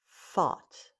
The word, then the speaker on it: thought: And the last one is thought. Thought. It rhymes with bought or taught.